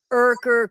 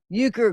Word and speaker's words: Euchre: So there's these pictures that have come up that have said Urker Christmas, and there's a there you go, but it's pronounced Euchre Christmas, and it's supposed to have something to do with Disney, right?